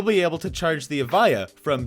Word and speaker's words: Evija: Evija is how you say it, and this $2.1 million